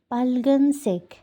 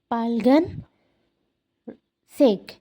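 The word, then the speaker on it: 빨간색: উচ্চারণটা শুনবেন পার্লগান সেক এখানে হচ্ছে ডাবল কনসোনেন্ট হয়েছে পাইল গান সেক পাইলগান সেক পা ডাবল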